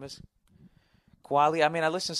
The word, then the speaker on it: Kweli: talk about last week, it's pronounced, I still can't say, it's Kweli. I've never heard somebody say it. Talib Kweli. I don't fucking know what his name is. Quali.